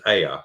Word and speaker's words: Ea: In the East Semitic language, Enki's name was Ea. It's the same personification. In West Semitic, including Hebrew, it was Aya or Yah. See, Ea. When you pronounce Ea, E-A, you get Yah, which gives us Yahweh.